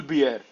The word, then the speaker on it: Bjerre: And यहाँ पे Jonas Bear. How do you pronounce this, Rakesh bhai? Jonas Bull Bjerre.